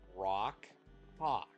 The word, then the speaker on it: Rawk Hawk: Right, It- and how's it pronounced? Rawk Hawk.